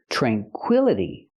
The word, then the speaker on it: tranquility: this word this is tranquility it changes because the i l is the stressed syllable so we pronounce it